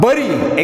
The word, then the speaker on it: bury: While in the bury example, BURY, so here U is pronounced, letter U is pronounced as A.